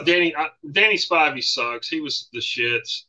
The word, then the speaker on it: Spivey: night against Danny Spivey Spivey is that how you say it it's not spiny Spivey Danny Spivey knocked him